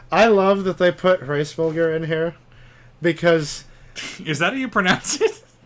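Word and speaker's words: Hræsvelgr: Hraesvelgr.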